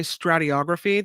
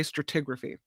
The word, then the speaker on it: stratigraphy: at you stratigraphy yeah they spell it without that o they don't say strator they say stratigraphy but hey I'm giving